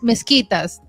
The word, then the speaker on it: mezquitas: I seen mezquitas in Mosque. Bogotá it's and mezquitas? mezquitas That's en how you pronounce español. it? Wow. Mezquitas, like you say, mosquito.